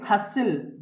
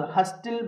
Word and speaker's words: hustle: HUSTLE హస్సిల్, BUSTLE బస్సిల్, CSTLE క్యాసిల్, RUSTLE రస్సిల్. అంతేగాని ఇలా చదవకూడదు, హస్టిల్, బస్టిల్, క్యాస్టిల్, రస్టిల్ కాదండి, హస్సిల్, బస్సిల్, క్యాసిల్, రస్సిల్.